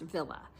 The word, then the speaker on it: Wille: and it's spelled w i l l e pronounced Villa so this is Arrow now let's put on